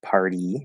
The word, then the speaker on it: party: pronunciation with party um we have the reverse situation so here we still have we have r which is a vowel it's an r colored vowel um and then we have e spelled with a y but it's the first spell e party right party um and we have a t at the start of an unstressed syllable so it's a weak t between two vowels again we're going to flap it but now we have